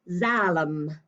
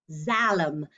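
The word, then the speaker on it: Xalam: silly word and again this is a funny one that sounds like a z it's actually pronounced zalam zalem and zalam is a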